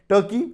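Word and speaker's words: Türkiye: ए spelling जरूर देखिएगा आप इसको तुर्की प्रोनाउंस करेंगे पहले हम तुर्की प्रोनाउंस कर देते आप तुर्की ये प्रोनाउंस करेंगे और तुर्की में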